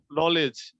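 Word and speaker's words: knowledge: নলেজ, নলেজের মধ্যে কে এর পরে আমরা দেখতে পাচ্ছি এন, যার কারণে কে এর উচ্চারণটা হয় না।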